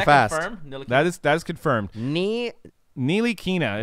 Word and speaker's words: Ntilikina: Ntilikina is how you say Frank's name. Ntilikina. Ntilikina. I will forget. I was saying it two ways. Ntilikina, and I was also saying Kilatina. Yeah, I was saying Kilatina. I was even saying Nicotina.